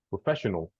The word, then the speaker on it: professional: No, in English, this one sounds more like professional, professional, professional. You don't say al, professional.